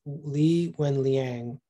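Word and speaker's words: Li Wenliang: give me one second uh lee lee when lee wen liang um he was an ophthalmologist actually in china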